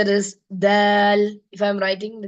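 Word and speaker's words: دال: the opp Opposite gums tip of the tongue will be touching the opposite gums D Dal like that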